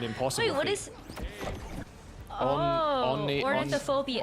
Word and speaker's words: ornithophobia: I don't think he could pronounce anything more than 2 syllables. So it's an impossible. Wait, what feat. is? Ornithophobia. Ornithophobia.